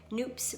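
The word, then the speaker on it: nupps: Nancy Bush says their noops rhymes with soup, so that's how I pronounce it.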